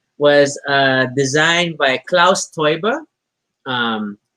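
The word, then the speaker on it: Teuber: uh designed by klaus toiba um eu is pronounced oy in german oh yeah that's leftover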